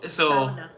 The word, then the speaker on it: sauna: Can you pronounce sauna properly already? In English, it's sauna. I'm speaking English. Yeah. So Sauna.